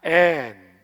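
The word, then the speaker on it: ἐν: 성령 안에 할 때 이 안에라는 말이 전치사인데 헬라어에서는 엔이라고 읽어요. 엔. 한번 해봅시다. 엔.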